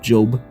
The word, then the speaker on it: Job: He references the book of Job in the Old Testament. I know it sounds like the book of Job, but it's not. It's the book of Job. That's how you pronounce it.